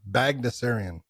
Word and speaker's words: Baghdasaryan: Baghdasaryan.